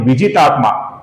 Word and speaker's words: विजितात्मा: अगली पंक्ति में जो पहला नाम है विजितात्मा, इधर वी और जी दोनों ह्रस्व है।